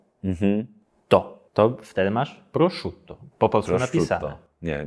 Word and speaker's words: prosciutto: ten błąd Niejeden raz a przut też 2T czyli nie Prosz Tutto tylko Prosz Tutto u to już trudne